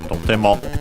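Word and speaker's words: とても: Can also be found in the with the doubling of the consonant between the before the te, so totemo. And by the way, it's unaccented, totemo.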